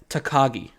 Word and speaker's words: Takagi: Takagi.